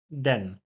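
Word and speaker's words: denn: pisany przez d i to słówko jest właśnie wymawiane z krótkim czyli Den Den dla osoby niemieckojęzycznej jest to bardzo istotna różnica aby właśnie wiedzieć czy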